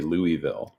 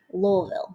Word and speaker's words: Louisville: That's how we know that you're not supposed to say Louisville, right? It's supposed to be Louisville.